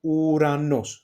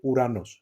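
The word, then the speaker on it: Ουρανός: And then Uranos, this Omicron epsilon together, Uranos.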